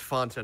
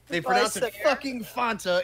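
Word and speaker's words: Fanta: here by the way it's pronounced Phan to not fonta in their own commercial here's a little fact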